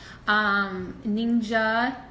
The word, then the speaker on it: NingXia: chronic skeptic on this thing called ninja ninja just how it's pronounced ninja is a type